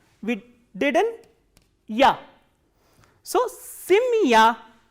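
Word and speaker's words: семья: So, again by the phenomenon of reduction, the sound of ye will be reduced.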